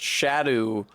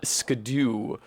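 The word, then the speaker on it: Scadu: supposed to be pronounced shadow and not scadoo. But that is what happens when you misspell the old English word for shadow.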